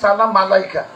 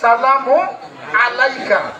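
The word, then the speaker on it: سلام عليك: যাবে তো অনেকে আমরা বলে থাকি ইয়া নবী সালাম মালাইকা কিন্তু মালাইকা শব্দ কিন্তু উচ্চারণ নাই এখানে মালাইকা শব্দের অর্থ ফেরেশতা আমরা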